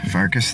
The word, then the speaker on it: Pfarcus: This is Pfarcus, the P is silent.